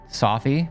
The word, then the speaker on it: Safi: Safi rhymes with coffee.